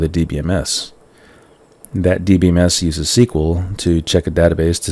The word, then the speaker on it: SQL: A DBMS accesses data in a database using structured query language, or SQL, which is pronounced SQL.